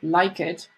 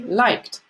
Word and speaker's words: liked: So you wouldn't say like it. You would say liked.